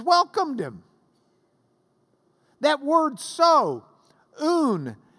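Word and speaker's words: οὖν: That word so, un, it's just three little letters, O, Upsilon, nu, O-U-N, un, means because, therefore, so.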